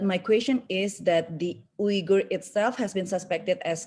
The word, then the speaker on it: Uyghur: How should I pronounce? Yeah, because when Uyghur.